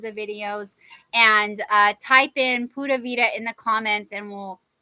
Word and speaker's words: Pura Vida: Ooh, excuse me, it's Pura Vida. So Puravida, and it means pure life, and it's actually pronounced Pura Vida, which is pure life, which I am wishing for all of you today.